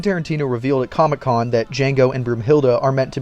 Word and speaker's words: Django: candy when he meets Django at the bar he asks Jango his name and how to spell it D Jango spells it out and tells him the D is silent to which Nero responds